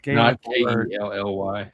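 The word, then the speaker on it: ceilidh: I think it's C E I L I D H, but I could be wrong. It's something like that. It's a gay ly.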